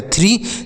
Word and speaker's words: three: अगला है THREE, तो TS से होता है थौ, R से होता है रॉ, डबल ई से बड़ी ई की मात्रा, तो यह हो गया थ्री।